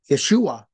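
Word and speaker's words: ישוע: but Yeshua is pronounced Yeshua the emphasis on the second syllable but mashia is on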